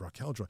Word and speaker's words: Raquel Joy: I said it wrong before. It's Raquel Joy.